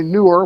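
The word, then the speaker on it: Neewer: newer boom arms so it's by the company newer which is spelled NE w r and I love these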